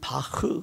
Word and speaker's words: 바흐: 찬 파 입니다 온 원어 발음 대로 면 바흐 그러는데 제가 그냥 우리가 잘아는